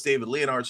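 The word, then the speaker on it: David Leonhardt: not looking to say oh it's david leonard's fault et cetera that's how you pronounce his name he's just representative of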